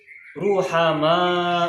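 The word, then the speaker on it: رُحَمَاء: dibaca menjadi rumah almarhum maka ini cara bacanya adalah Ruhama uh uh rohimun Muhammad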